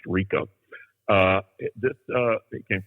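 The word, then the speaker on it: Ricau: name was jimmy rico r-i-c-a-u is a french name pronounced rico uh this uh it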